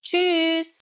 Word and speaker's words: Tschüss: Tschüss! And if you want to pronounce it the German way, you actually raise your voice. Tschüss!